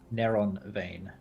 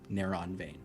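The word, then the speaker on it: Neronvain: uh nova what was the name again nerevain neuron vein neuron vein thank you how do you spell that i'm sorry n-e-r-o-n vain one literally thank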